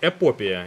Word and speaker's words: эпопея: это просто эпопея знаете эпопея именно вот таким ударением будем бахать Конечно хочется